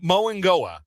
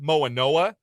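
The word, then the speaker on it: Francis Mauigoa: I think he does pronounce the G as an NG, like Tua Tagovailoa does. I think I've heard him say it Moangoa. So I read Moanoa. Yeah. I've heard him say Moangoa.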